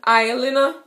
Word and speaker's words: Alie: You know how we say this in Jamaica? Oil. Alie. So instead of saying oil, we say aisle. And you spell that A-L-I-E. So this is an aisle, right? Yes, so. And we say aisle and you guys say oil, okay?